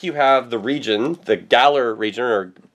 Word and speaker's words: Galar: on the back you have the region the Galler region or pronounce it again for gar galar region so like I don't want to do